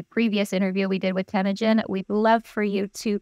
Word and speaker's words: Temujin: have missed the previous interview we did with tagen we'd love for you to go ahead and